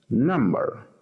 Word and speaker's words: number: Número, en inglés decimos number. Entonces, vamos a ver por acá. Number. Primera sílaba. Es la sílaba estresada, ¿no?